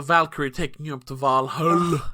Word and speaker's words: Valhalla: taking you up to valhalla as they say not valhalla i don't know why they picked vol uh it's an icelandic pronunciation ah okay okay that